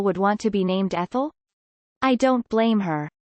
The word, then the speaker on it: Ethel: Maybe suggest that your ex think about it as the stress on the second syllable instead of the first, Ethel, instead of Ethel, because it's not up